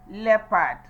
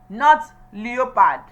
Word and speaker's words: leopard: The first word is produced as leopard. Leopard. Leopard. Not leopard.